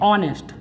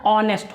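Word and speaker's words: honest: होते हैं जैसे ऑनेस्ट तो इसको भी हम क्या पढ़ते हैं ऑनेस्ट एच यहां पर साइलेंट होता है और इसका जो प्रोनंसिएशन होता है वह ऑनेस्ट होता है तो यहां पर भी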